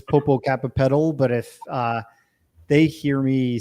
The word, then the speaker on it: Popocatépetl: And of course, I can't pronounce that volcano in Mexico, Mount Popo. Popocatépetl. Okay. In English, it's Popocatépetl, but if they hear me say that, they're like saying and that.